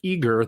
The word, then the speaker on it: Eagar: Let's just say November 2001 in Eagar, that's spelled E-A-G-A-R, Arizona.